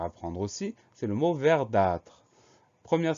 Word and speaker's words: verdâtre: Le mot suivant, c'est un mot qui est un petit peu rare, mais qu'on va apprendre aussi, c'est le mot verdâtre. Première syllabe, vert, V-E-R.